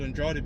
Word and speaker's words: Andrade: Okay, there's a book put together by Jacob Andrade, some people pronounce it. That's how Kamala pronounced it, but I pronounce it Andrade because that's my middle name.